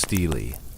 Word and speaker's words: stele: A stele, pronounced stele, is a large slab of stone set upright in the ground, often inscribed with words or images.